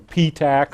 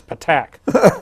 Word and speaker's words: Patak: Maddie's dad told me, he said, "You guys don't pronounce Jeff's last name right." And I says, the announcer always calls him P-Tac or something like that. He says, "It's Patak."